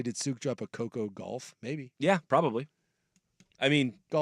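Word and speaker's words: Gauff: Suk drop a Coco golf maybe yeah probably I mean golf golf yeah it it I mean she does uh phonetically it would be the exact same as Jared golf so Dam sure you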